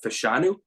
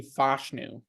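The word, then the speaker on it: Fashanu: out of Penn State uh fanu I'm sorry if I'm pronouncing that wrong again um I got them taken technically fashu fashu okay I gotta work on these I was saying fashu for months too he offensive tackles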